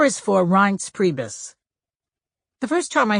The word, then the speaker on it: Reince: it's hard to pronounce reince rhymes with heinz and priebus rhymes with